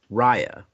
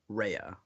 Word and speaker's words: Raya: the Southeast Asian community, we say Rya. Like we'll look at it and we can be like, "Oh, that sounds like Rya." And that's how it's spelled and that's how it's, you know, said. But for everyone else, it was like Rehea.